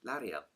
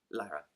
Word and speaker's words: Lyra: The author actually describes Lara as a little savage. Lyra. How do you say her name? Lyra.